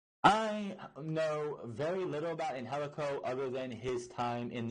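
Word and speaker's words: Angélico: you're gonna be and it's not Angelica it's in helico Bay right if you're sitting there watching the guy it is and helico that is how it's pronounced ourselves always some pronounced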